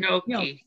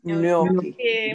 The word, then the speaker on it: Gnocchi: Gnocchi. Gnocchi. Molto bene. It's the GN is like canyon, like the NY in canyon.